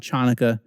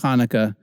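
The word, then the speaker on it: Hanukkah: it's a great letter Hannukah Hannukah sometimes in english written with the CH it's not chaunaca it's Hannukah Hannukah just remember the CH in the transliteration of Chanukah is making a guttural sound alright Tet is next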